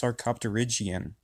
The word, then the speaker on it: sarcopterygian: Well, if this wasn't your first time reading your PowerPoint, you would know that it's pronounced sarcopterygian.